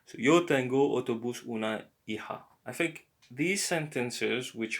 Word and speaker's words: hija: It's not hija, hija, because the H is silent and the J is like a h.